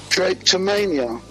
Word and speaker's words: drapetomania: Do you know this word called drapetomania? No. Can you spell that, please?